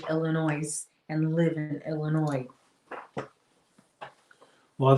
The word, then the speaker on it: Illinois: So it just I know that our state, Illinois, some people say Illinois, but most of those people who say Illinois are not from Illinois. I don't know too many people that say Illinois and live in Illinois.